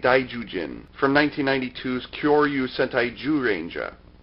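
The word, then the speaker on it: Zyuranger: from 1992's Kyoryu Sentai Juranger? I know, it's spelled with a Z, but it's actually pronounced with a J.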